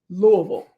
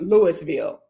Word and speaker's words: Louisville: How do you pronounce it? So, if you live here, born and raised here, we say Louisville.